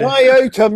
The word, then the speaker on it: Iotum: Iotum, yes. Rhymes with scrotum.